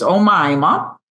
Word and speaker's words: Oma: And I mispronounced your name in the last buddy episode cuz I hadn't met you yet, but I know her name is Oma.